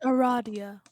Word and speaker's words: Aradia: that's one car cats Aradia Aradia sorry it's pronounced Aradia Aires then Swiper nice Kanaya okay cacao and